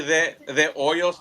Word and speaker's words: De Hoyos: Uh, it's actually the Oils. The H is silent, but The everybody says the oils.